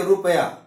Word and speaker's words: रुपया: में, रुपया क्या हो रहा है, आप देखिए रुपया।